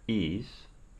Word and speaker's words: Ys: which describes the ancient Cathedral of ease that is spelled is which was engulfed by